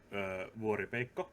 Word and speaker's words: Vuoripeikko: But for people watching the VOD either on Twitch or on YouTube later, this is Vuoripeikko, aka. Hey, I am indeed Vuoripeikko, which is the Finnish pronunciation.